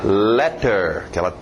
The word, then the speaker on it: letter: Continuando, letter, aquele T bem nítida, letter, letter.